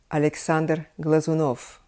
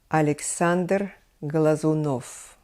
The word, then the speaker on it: Alexander Glazunov: dear to all violinists hearts is of course Alexander Glazunov Alexander Glazunov next I would name a very famous russian